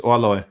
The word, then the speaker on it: Orloj: How do you pronounce this? Orloj.